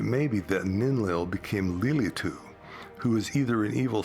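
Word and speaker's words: לילית: Here's what Lilith looks like pronounced as Lylit in Hebrew.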